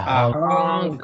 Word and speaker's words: hunk: Focus on the ending sound, hunk. Because otherwise, it might sound like hung, like, right?